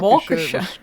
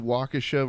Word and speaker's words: Waukesha: term yeah well yeah it happens in walker wisconsin you mean waukesha wisconsin yeah oh i pronounced it wrong sorry oh no no